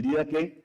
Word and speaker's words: Didaché: importancia por su antigüedad que se llama el Dqué o se escribe didaché, ¿verdad? Si lo quieren buscar en en internet, el Didaque también se le conoce como las enseñanzas de los 12 apóstoles.